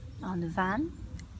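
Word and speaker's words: an bhean: So we can see there are two pronunciations for BH, v and w, on van, the woman, and well, which means well.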